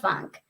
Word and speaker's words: Func: what the funk and funk is spelled f-u-n-c yep and yeah you